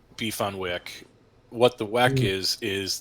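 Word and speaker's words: beef on weck: Buffalo beef on Wick it's pronounced beef on Wick what the wack is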